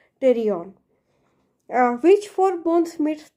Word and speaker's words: pterion: The spelling starts from letter P, but pronunciation is pterion.